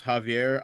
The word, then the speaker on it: Xavier: What's up Xavier? How you doing man? How you doing call it's actually pronounced Javier.